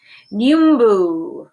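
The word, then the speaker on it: nyumbu: will have to do nu mu wildebeest pronounced in two syllable numu have fun grand bass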